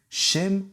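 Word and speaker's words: שם: D'ailleurs, en hébreu, le mot nom, qui se dit Shem en hébreu, peut aussi vouloir dire là-bas, qui va se prononcer Sham.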